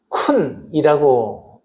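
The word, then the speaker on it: כּוּן: 여기서 준비하셨다라고 하는이 말은 쿤이라고 발음을 합니다.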